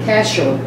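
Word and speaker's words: כשר: The two English words, seem right, are one primitive Hebrew root word, kashur. Spell it for us.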